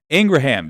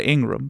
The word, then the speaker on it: Ingraham: mic I surely will Ingraham yes apparently that is how you say I've been saying Laura Ingram but apparently according to her brother that is how you say the last name and as much as